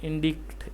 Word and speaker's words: indict: The stress is on the second syllable dict.